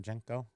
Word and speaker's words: JNCO: a stack of junos how do you pronounce that jenko jnco right that's the that's the